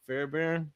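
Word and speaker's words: Fairbairn: Yeah, they got a great kicker in uh Fairbear.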